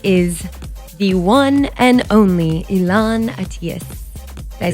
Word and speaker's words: Elan Atias: front of me is the one and only elon atheist did i say it right yeah of course